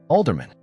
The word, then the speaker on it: Alderman: Alderman, like a city councilman.